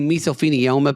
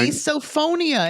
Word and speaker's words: misophonia: So you misophenoma people are misophonia and it's a serious thing.